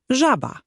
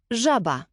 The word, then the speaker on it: żaba: Je jak angielskie ZH w słowie measure. Żaba. Żaba.